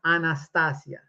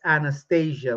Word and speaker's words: Anastasia: Anastasia. By the way, her name pronounced Anastasia is Russian. It's a beautiful language. Pronounce it correctly. What's this Anastasia? What? It sounds almost like she's going under anesthesia.